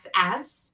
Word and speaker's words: Gruss: It rhymes with Seuss, but it's spelt a little differently. So it's Gruss.